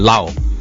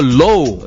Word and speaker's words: Low: Lau. No, you are Mr. Low. Yeah. You cannot say Mr. Lau. L-O-W is pronounced as low.